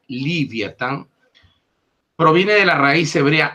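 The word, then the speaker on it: לִוְיָתָן: ni siquiera este mundo la palabra leviatán que en hebreo se pronuncia livyatan proviene de la raíz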